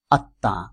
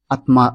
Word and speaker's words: আত্মা: নাসিক্য প্রভাবিত হয় সেজন্য শেষের ত বর্ণের আকারের উপরে চন্দ্রবিন্দু ব্যবহার করা হয়েছে আত্মা তবে চন্দ্রবিন্দুটি এখানে